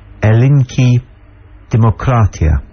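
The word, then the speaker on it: Ελληνική Δημοκρατία: says are for example the real name of Greece as pronounced by the Greek people is elink democa see so when they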